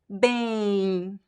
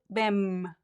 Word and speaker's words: bem: So here, the M, the function of the letter M is just to make the letter E nasal.